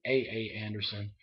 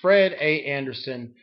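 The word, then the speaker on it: Fred A. Anderson: name wrong um because I think I was calling it AA Anderson it's Fred a Anderson uh uh Elementary School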